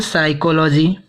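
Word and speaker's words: psychology: इसे जैसे हम पढ़ते हैं, जैसे पीएस से आया हुआ है ये शब्द, लेकिन हम पढ़ते हैं इसे यस शब्द से प्रोनाउंसिएट करेंगे। जैसे साइकोलॉजी, सैमोशियर।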